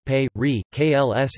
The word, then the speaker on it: Περικλῆς: Pericles, Greek, Pericles, pronounced pe, re, kls in Classical Attic, c.